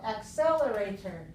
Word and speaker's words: accelerator: accelerator accelerator five so accelerator accelerator five syllables where's the stress when I say accelerator Accel second one the second one okay so the stresses